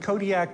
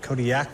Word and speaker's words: Kodiaq: In the Alutiiq language, the Q's are more come from like your throat than a normal K does. How would we pronounce it then? Kodiaq.